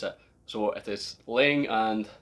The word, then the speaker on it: Laing: The right way to pronounce it, I've been pronouncing it Lang for so many years, and Fred Laing on one of the Douglas Laing Facebook groups corrected me on how to pronounce it. So it is Laing and not Lang.